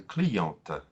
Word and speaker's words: cliente: In the feminine, we add the E, and then the T is no longer silent. We hear the T at the end. Other examples, un client, une cliente.